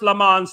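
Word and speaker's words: Lammens: It's pronounced lemans, not men's.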